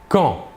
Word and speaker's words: quand: Quand? Il se prononce quand. La D finale ne se prononce pas.